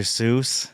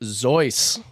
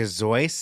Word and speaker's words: Seuss: time it's not Dr Seuss no his parents are from Bavarian ancestry his mother uh her last name was spelled Seuss but it's pronounced zoy Dr zoy Dr zoy that is